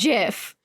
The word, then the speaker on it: GIF: like no he said GIF and he was like but everyone pronounces it gif and I was like the guy who made the word says it's GIF like Jiffy peanut butter but people say GIF